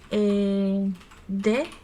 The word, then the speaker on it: the: It depends on the sentence. If you want to make an emphasis, you say the most, the biggest. But when you are reading normally, you usually say like that, very, very small.